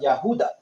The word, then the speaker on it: Judah: like the descendants of the Yahuda, or Judah, which is the true pronunciation of Judah.